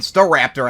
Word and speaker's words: Staraptor: dog on St um staraptor mean star Raptor actually it's how it's pronounced cuz originally when I